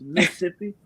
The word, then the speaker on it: Mississippi: for y'all know who don't know how to pronounce it correctly it's Mississippi but I was raised in Mississippi and um